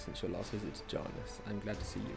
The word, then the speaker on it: Janus: It's Janus, not Janus. I do wish I heard the word before I pronounced it wrong a million times.